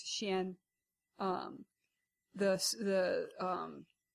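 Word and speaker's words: xian: chinese is that um x is pronounced sh so um x i a n is xin um this the um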